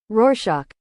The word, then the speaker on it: Rorschach: Rorschach.